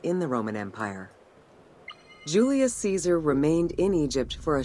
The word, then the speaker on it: Caesar: son of Caesar and the Latin pronunciation of Caesar is Kaiser and if you've if